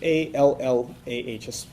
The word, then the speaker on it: Allah: That would be spelled in English A-L-L-A-H, an emphasis on the L, okay, Allah.